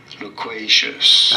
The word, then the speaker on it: loquacious: Loquacious. Right. You do want to stress on the second syllable, on the qua syllable.